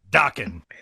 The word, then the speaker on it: Dockin: Dockin. Oh, Rhymes Dockin. rhymes with rockin'.